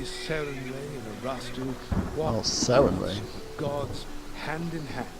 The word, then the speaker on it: Sarenrae: Lady Sarenrae and Erastil walk Oh, Sarenrae. with gods hand in hand, and so must their servants as well. That's how it is pronounced. Sarenrae.